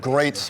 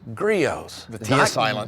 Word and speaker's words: Griot's: to say the name so many people i hear talk about this brand they say great g riot greats we've heard it all it's gri-o's griots griots okay am i correct that's